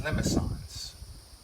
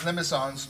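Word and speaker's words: limaçon: There's these limicons. That's a French word, and that's a little accent or cedilla, I think they call it, underneath the C. I think it makes it a soft C.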